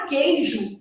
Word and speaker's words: queijo: depois fragmentando os conteúdos na palavra queijo o u não é pronunciado Então olha como é